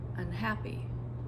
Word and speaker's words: unhappy: So the good news is most prefixes don't take stress. So when you add those two root words, you just follow the stress of the original root word. So just like with that example, unhappy, all I did was add an unstressed syllable to the beginning of the word unhappy.